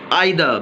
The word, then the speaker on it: either: तो ये आइदा, नाइदा, देखिए नाइदा, न, आई और द। ऑलराइट, ये द का उच्चारण लंबा खींच रहे हैं तो ये वाला चिन्ह आना है।